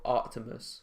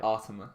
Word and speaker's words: Artemis: my excitement on Hotel Artimus. Yeah. Am I saying it right? Artemis. Fuck. Without the C.